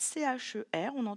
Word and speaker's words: cher: R, dans ce mot-là, en fait, C-H-E-R, on le lit cher, vu qu'il est inclus dans le mot.